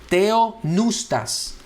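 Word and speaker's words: θεόπνευστος: Lo escribí en español, tratando de verdad hacer énfasis en la forma que nosotros lo pronunciamos. Theopneustos.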